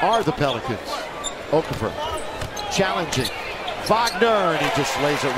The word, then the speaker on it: Wagner: And he goes, it's Wagner. I said, we know. We pronounce it correctly.